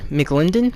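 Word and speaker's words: McLendon: listen they uh Missing starting defensive tackle stepen mclindon that's how you say his name those were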